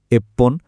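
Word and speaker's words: いっぷん: কিছু সংখ্যার শেষে উচ্চারণটা ফান না হয়ে পন হয়। যেমন এই স্লাইডে দেখুন, 1, 6, 8 আর 10 মিনিটের জন্য আমরা বলি এপ্পন, রপ্পন, হাপ্পন আর জুপ্পন।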